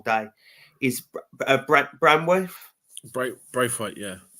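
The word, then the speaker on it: Branthwaite: you're gonna have to help me with his pronunciation because I believe I've been saying it wrong all day is BR banworth bra Brave weight yeah Brave weight so I honestly thought he would go I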